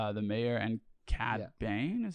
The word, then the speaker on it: Cad Bane: Bane, is how you say his name?